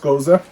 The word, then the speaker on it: Gose: like it's ghost gose it is pronounced goza usually that is a